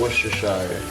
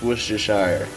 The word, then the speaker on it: Worcestershire: So now, it's time for a little Worcestershire. You know what I'm saying? Yes, it's pronounced Worcestershire. Not Worcestershire. I mean, you can say Worcestershire. I ain't make the word up, so I just say Worcestershire.